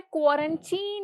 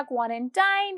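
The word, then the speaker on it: quarantine: Next word है क्वारंटीन या क्वारंटाइन। क्वारंटीन इज the right pronunciation.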